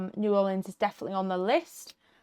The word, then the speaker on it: New Orleans: It's like new like new and then or like what you row a boat with and then lens like a camera lens. That's how you say it. New Orleans. And you put the emphasis on that or.